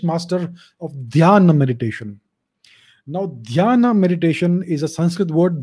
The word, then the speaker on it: dhyana: Now, dhyana meditation is a Sanskrit word, dhyan. The Chinese don't know how to pronounce dhyan, so they turned it into Chan.